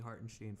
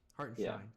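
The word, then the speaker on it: Hartenstein: was I was taking Heart and Sheen for sure. Heart and Shine, excuse me.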